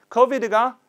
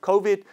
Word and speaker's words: COVID: COVID가 코로나 바이러스죠. 그래서 COVID. 원래는 the official name of the virus is COVID-19인데요. 줄여서 COVID라고 돼요. 발음은 O입니다. COVID. COVID가 아니라 COVID, COVID.